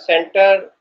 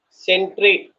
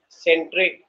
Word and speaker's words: sentry: Yeah, it's not center, sentry. Please catch my pronunciation, sentry. Okay. Okay. So here Nagam Sai says center, Annapurna and Sai Sri says century.